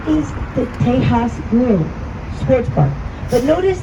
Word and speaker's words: Tejas: Here on the right is the Tejas Grill Sports Bar. But notice the name. You see how it's spelled T-E-J-A-S? That is the original pronunciation for the word Texas. It's pronounced Tejas, and the word Tejas means friendly ally or friend.